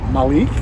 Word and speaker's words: Malik: name is very simple one name rhymes with the week and that's Malik and my last name